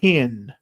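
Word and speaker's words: ἕν: So if you see epsilon nu with a rough breathing, you would say it like hen.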